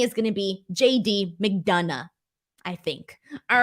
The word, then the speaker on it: McDonagh: don't know brandon says it's proud mcdonough oh like mcdonough jesus okay so it's spelled m-c-d-o-n-a-g-h i could see mcdonough okay but now i'm not seeing it that way now it's either mcdonagh or mcdonald's or something along those